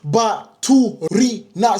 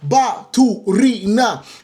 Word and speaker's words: Baturina: Pronounce his name. Baturina. Say it with me, people in the back. Baturina.